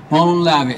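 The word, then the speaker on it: Μολὼν λαβέ: And I lived in Greece, so I know how it's pronounced, right? Molon lave, and that means, basically, loosely translated means, if you want our guns, come and take them.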